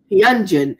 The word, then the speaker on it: Hyunjin: Is that how you pronounce his name? Hyunjin.